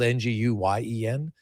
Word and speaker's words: Nguyen: And uh Nguyen, they pronounce it uh cuz his his last name is spelled n g u y e n, pronounced Nguyen.